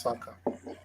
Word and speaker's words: Saka: soccer it's okay yeah he he's pronounced Saka sucker to me and